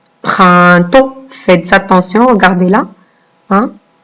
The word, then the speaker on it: printemps: Vous avez 2 sons dans le mot printemps. Vous avez le 1 et vous avez le AN. Le 1 qui s'écrit avec IN et le AN qui s'écrit avec EM car il est devant la lettre P. Donc, printemps. Et vous avez une lettre muette à la fin.